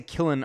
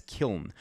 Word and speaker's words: Kiln: this word correctly now i think it's kiln i know i say killen a lot but it's kiln um and i think